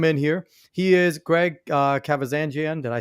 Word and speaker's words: Kavazanjian: He is Greg Kavazanjian. Did I say it right? You said it right. Hell yeah, Greg Kavazanjian.